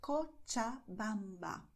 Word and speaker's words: Cochabamba: And the combination of CH has the sound of ch, like in English when you say match. Okay, so you say Cochabamba, Chile.